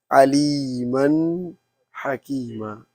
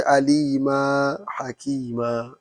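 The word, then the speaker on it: عَلِيمًا حَكِيمًا: But if you are not going to stop, if you are proceeding, you have to pronounce the Fathatain like here. Aliman Hakima. You cannot say Alima Hakima.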